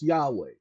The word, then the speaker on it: Yahweh: was and it was the original name in Hebrew was Yahweh that's the closest pronunciation because they only use